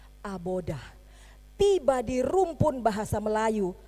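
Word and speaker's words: עבודה: dia udah berkat nah kemudian ahli bahasa di Israel menambahkan aksen supaya kita mudah membacanya ditambah dengan huruf hidup di bagian depan Tengah dan tengah belakang sehingga kita mudah membacanya menjadi abodah tiba di rumpun bahasa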